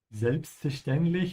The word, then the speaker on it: Selbstverständlich: To help you pronounce it, try to cut it out, yeah? Selbstverständlich. It would also help you to practice it from the end to the beginning. So start with lich and then stend, ja, und dann fair. Also lich, ständlich, verständlich, selbstverständlich.